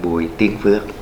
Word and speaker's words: Bùi Tiến Phước: My name is pronounced in Vietnamese as Bui Tien Phuoc.